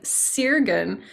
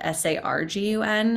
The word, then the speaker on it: Sargun: I get the name sirgan which I actually pronounce that way um because that's how it's spelled but it should actually have been spelled s-a-r-g-u-n and it should be pronounced sargun which means with the